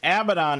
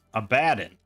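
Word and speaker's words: Abaddon: What is what's the proper pronunciation? Cuz I like to be proper and uh and the proper or you know more proper like Hebrew or whatever it was is abadden.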